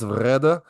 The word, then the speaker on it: Vrede: Inside is Vrede. That's how he pronounced it.